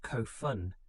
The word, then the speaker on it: Kofun: The Kofun period, pronounced Kofun, beginning around 300 of the common era, takes its name from the massive burial mounds constructed for deceased rulers.